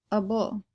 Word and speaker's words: -able: at the suffix double it looks like Abel and it means kin or able to but it's pronounced a bull we are going to